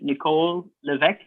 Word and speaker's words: Levesque: representative okay and your your name is pronounced nicole levesque yes sir that's correct you pronounced it perfectly many people don't yeah well it's french it's french yes sir it is